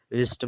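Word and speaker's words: wrist: ऐसे ये है रिस्ट में जो है डब्ल्यू नहीं पढ़ा जा रहा आर आया।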